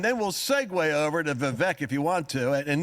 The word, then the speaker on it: Vivek: We need to at least hit the whole Vivek and Nikki. It's pronounced Vivek.